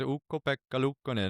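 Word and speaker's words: Ukko-Pekka Luukkonen: and it was like, actually, the way to pronounce my name is Ukko-Pekka Lukkonen, and I was like, whoa, wow, that was melodic.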